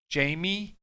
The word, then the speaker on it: Najimy: I had to look up how to say it because it's Kathy Ann Najimy.